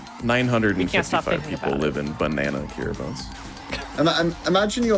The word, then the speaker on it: Kiribati: If you were to say it as it is spelled, it would be Kiribati, but it is officially pronounced Kiribati.